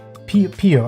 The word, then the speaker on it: Peo: Like P-E-O. P-O, I think is how she pronounces it.